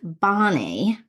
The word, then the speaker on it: BANI: I did some googling and I came across a guy named Jamai Kashio who had coined a term called Bonnie. Mhm. um rhymes with Donnie.